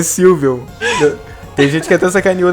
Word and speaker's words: Sylveon: Eu gostei da Silvmon. Acho que é assim que se pronuncia. Silvemon? É Digimon? Não. Eu gostei da evolução do Angemon. É Sylveon.